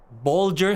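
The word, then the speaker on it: Bolger: pronounced accordingly for example Bulger has a g as in Bulch and matham rhes with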